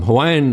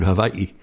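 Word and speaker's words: Hawaiʻi: And apostrophes do a lot of the breaks in the word like the word havi. It's not Hawaii, you know.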